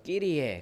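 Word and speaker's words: Kyrie: 주여, 주여는 헬라어로 끼리에, 퀴리에 그렇게 이야기하는데 라틴어식으로 발음되면서 끼리에 그렇게 발음하고 있더라고요.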